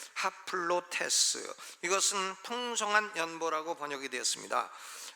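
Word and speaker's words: ἁπλότης: 하플로테스 좀 어려운데, 하플로테스, 이 헬라어 첫 단어인 알파에다가 이 순표가 까꾸로 찍혔어요. 까꾸로 찍히면 아가 아니라 하로 발음해야 돼요. 하플로테스, 이것은 풍성한 연보라고 번역이 되었습니다.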